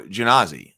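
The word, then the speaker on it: Genasi: Oh, Grimhild says soft G on Genazi. So Genazi.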